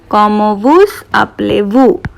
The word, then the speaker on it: Comment vous appelez-vous: And the formal way of asking what is your name is Comment vous appelez-vous? Comment vous appelez-vous? Comment vous, I'm pronouncing S because this is a vowel. Comment vous appelez-vous?